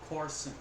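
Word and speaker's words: Courson: an a I was supposed to be said Corson Corson Corson K I've heard some weird bad pronunciations and names that's Topsy at Pamela's request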